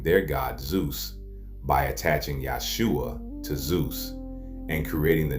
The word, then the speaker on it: Jesus: Now before you get upset, I said what I said, because the name Jesus is incorrect. If you didn't know, the proper pronunciation is Yahshua.